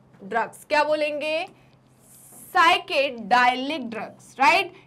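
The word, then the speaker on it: psychedelic: क्या बोलेंगे इनको साइकेड साइके डालि ड्रग्स क्या बोलेंगे साइके डालि ड्रग्स राइट इधर पी साइलेंट है क्या है पी साइलेंट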